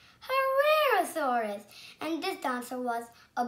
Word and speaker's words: Herrerasaurus: I'm going to tell you how to pronounce it. Herrerasaurus. Herrerasaurus.